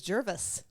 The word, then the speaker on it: Gervais: It's pronounced Gervais. I don't know. How do you pronounce it? I thought it was Jervis. Jervis? I don't know. I don't know. I pronounced it Gervais. What a name. I pronounced it Gervais in my reading of it. Oh, okay. So, all right. Well, then it's Gervais.